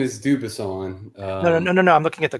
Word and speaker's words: Dubuisson: Dubuisson. She's got the French pronunciation on there.